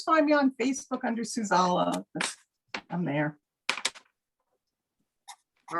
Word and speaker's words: Suzala: Ukulele and Souza together. And you can always find me on Facebook under Suzala.